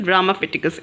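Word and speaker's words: Ramapithecus: ये प्रोनाउंस करना थोड़ा मुश्किल होगा बट इट इज़ रामाफिटिकस एज।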